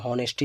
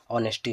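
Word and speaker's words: honesty: होता है जैसे ऑनेस्टी ये एच इसमें लगा होता है लेकिन एच क्या होता है इसमें साइलेंट होता है तो हम लोग इसको बहुत से लोग इसको नेस्टी पढ़ा करते हैं लेकिन यह क्या होता है हमारा ऑनेस्टी होता है नेस्टी मीस क्या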